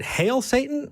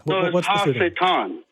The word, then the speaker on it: Ha Satan: Is it Hail Satan or Ha Satan? What's Ha Satan? Ha Satan. Okay.